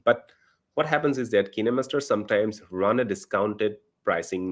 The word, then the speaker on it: KineMaster: is kinemaster or some may also call it kind master kinemaster or kindmaster whatever you like to call but according to the makers of the software they should it should be called kinemaster okay so it's about the pronunciation so kinemaster